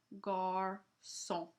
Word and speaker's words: garçon: It changes the C, which could be a K sound, to a soft sound, basically to an S. So this word, garçon, it's an S sound, a soft C.